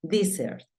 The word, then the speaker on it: desert: pero se pronuncian diferente la número 10 termina en vocal la primer sílaba por lo tanto va a sonar di y la segunda pues termina en consonante Desert es el desierto pero pilas con